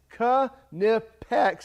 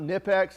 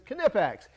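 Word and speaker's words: Knipex: that's from canipex yes it's cu nepex is the right way to say it's not nippex it's kinepax anyway trust us ask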